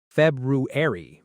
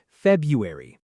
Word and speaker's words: February: A lot of learners say every letter here, too. February, but native speakers often skip a sound saying February.